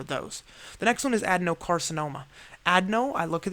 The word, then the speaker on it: adenocarcinoma: a demo carcinoma or adenocarcinoma but it pronounced it adenocarcinoma so it sounds like a Denny's and I think of